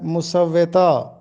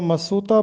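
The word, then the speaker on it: مسودہ: تلفظ بتانا ہے، تو اس کا درست تلفظ ہے مسوّتہ۔ اکثر لوگ اس کو مسوطہ پڑھتے ہیں، جبکہ درست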